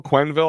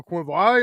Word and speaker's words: Quenneville: Quenneville, I always say his name wrong.